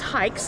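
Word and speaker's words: HAIX: uh I'm with hikes uh want to give you just a quick brief with it's actually pronounced hikes like you're going hiking are you German footwear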